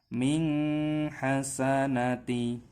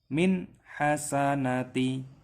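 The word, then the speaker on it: مِنْ حَسَنَةٍ: Min hasanati, harus dibaca jelas. Kenapa? Karena di sini ada huruf nun sukun yang bertemu dengan H, sehingga cara membacanya harus jelas. Min hasanati, seperti itu yang benar cara membacanya.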